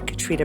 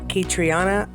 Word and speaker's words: Caitriona: concerning our Leading Lady Katrina balf anyone remember when I pronounced that katriana oh the ignorant old